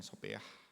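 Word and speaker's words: σοφία: di sini pakai sopah walaupun pulusannya Sopia bacanya sopah kebijaksanaan luas dan penuh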